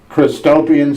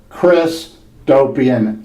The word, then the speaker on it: Christopian: Again, the title of my new book is Christopian Sex. That's Christ, as in Jesus Christ, and opian. That's spelled O, P as in Paul, I, A as in Apple, N as in Nancy, as in utopian.